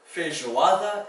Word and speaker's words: feijoada: In Portuguese, that zh makes is spelled with a j. Feijoada is a kind of thick stew made of black beans and meat.